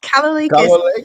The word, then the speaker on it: Kalolekas: Her name is Kalolekas, if I've got that right. Welcome to the holding space. Is that correct? You did it, yes. Kalolekas.